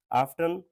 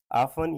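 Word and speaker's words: often: आफ्टन, ऑफन या आफ्टन, ये दोनों प्रोनाउंसिएशन ठीक है।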